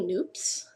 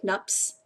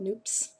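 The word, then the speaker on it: nupps: these are actually Mini noops and it looks like nups but it rhymes with soup so they're called noops um and I hadn't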